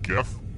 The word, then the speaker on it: GIF: What does the I stand for in GIF? And yes, I pronounce it with the G sound, not the J.